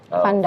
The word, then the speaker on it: Van Dijk: Bacanya Van Dijk.